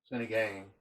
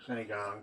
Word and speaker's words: Sinigang: Hey, I'm gonna have to show y'all how to make this Sinigang or Sinigang, depending on how you pronounce it.